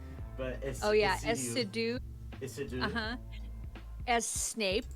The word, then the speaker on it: Essiedu: I always pronounce it ACDC, like, but oh yeah, Essiedu.